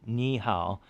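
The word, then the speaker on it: 你好: both as third tones if there's two third tones in a row the first one actually goes up to a rising second tone and it's just something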